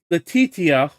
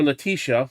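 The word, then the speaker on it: Letitia: New York Attorney General Lati Latitia or Leticia, that's how it's pronounced.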